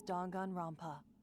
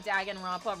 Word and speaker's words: Danganronpa: took place within a fictional world known as Dongan Rompa. Okay, DONGAN. Gangan Rampa. What are you even talking about? Have I been prop pronouncing Dag and Rampa wrong this entire time?